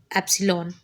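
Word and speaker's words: ε: by DX is equal to e i is pronounced as Epsilon where Epsilon is a constant proportionality and is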